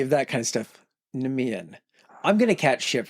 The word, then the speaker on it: Nemean: sent to slay the Nemenian lion. The tricky thing about this Nemenian lion is it's about 2 to 3 times his size, Heracles' size. I hate to be a pronunciation queen. Nemean.